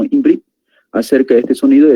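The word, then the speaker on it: עברית: El idioma hebreo es pronunciado como Imbrit.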